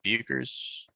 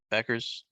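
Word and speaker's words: Bueckers: Paige Buchers. Is that how you say it now? Beckers? Yep. Just act like the U's not there.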